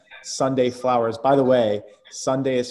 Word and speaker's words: Sundae: sunday school and sunday flowers by the way sunday is spelled s-u-n-d-a-e and they provide you with high-end